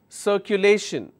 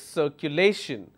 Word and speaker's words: circulation: the second last rotation let me add more syllables circulation how many syllables sir q lei shin and still my stress will be on lace circulation because my stress has